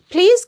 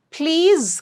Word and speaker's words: please: Please confirm. Please confirm. And it's not please. I forgot to mention this. It's please. It's a Z sound.